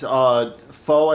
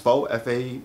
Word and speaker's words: faux: It's faux, I think it's pronounced faux, F-U-A-X, Fox, faux, ivory.